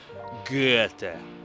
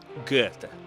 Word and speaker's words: Goethe: Mi trovo davanti alla casa dove nacque e visse una delle persone più influenti d'Europa, Goethe, che in tedesco pronunciano Goethe. Goethe.